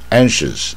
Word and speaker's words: anxious: 它的窍门就是它是大卷舌 anxious，那这个 k 一般不发出来没有什么